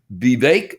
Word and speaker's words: Vivek: read you something that its name is be bake that's what they just said it rhymes with cake ramaswamy I'm going to